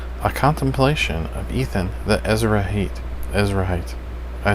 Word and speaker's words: Ezrahite: to say this word, Ezrahite, right? And it tells me in the Greek. Strong's H, or in the Hebrew, sorry. Ezrahi. See, I was saying it wrong. Ezrahi, right?